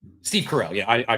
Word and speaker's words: Steve Carell: Carol. Yeah. Ter morning morning show. Wait, Steve Carell. Steve Carell.